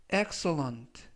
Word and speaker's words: excellent: 되겠습니다 이번 표현은 X1 엑설런트 엑셀런트라고 발음하시면 되겠고요 강세는 맨 앞에 있는 알파벳 e의 강세가 있습니다 그래서 x11라고 발음하시면 좋겠고요